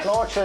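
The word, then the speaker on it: Sláinte: Slocher is the Irish for cheers. Slocha. Sloer. Spell it.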